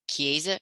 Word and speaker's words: Chiesa: The firm's name is pronounced Chiesa, Shahinian, and Giantomasi.